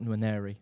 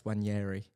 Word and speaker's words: Nwaneri: Not Nwaneri. I found out it's Wanyeri. Everyone says Wanyeri and I was like... Silent N.